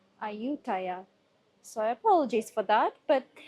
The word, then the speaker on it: Ayutthaya: All right, so we have arrived and it seems like I've been pronouncing the name wrong all along. I've heard some locals uh say it and it's actually called Aayutaya.